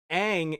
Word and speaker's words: Aang: and then he did it he pretty much mispronounces everyone who isn't Zuko or Katara Iroh is zero Aang is wrong what what the